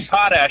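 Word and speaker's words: Potash: And and I don't understand why guys like uh Mark Potach or Podash, I've never heard I've never heard someone pronounce his name. Potach.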